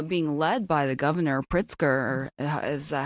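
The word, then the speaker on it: Pritzker: But um you know, people are pushing back against that uh being led by the governor Pritsker, is that how you say his name? Yeah, Pritskar, who don't want the National Guard troops there.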